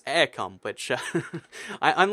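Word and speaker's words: Eircom: I did pronounce um I kept saying irom for like you know one of the Irish providers apparently it's aircom which I I'm like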